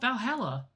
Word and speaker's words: VA-11 HALL-A: Name sounds silly and a bit hard to pronounce. Good thing it's actually called Valhalla. The funny numbers and letters are just a code.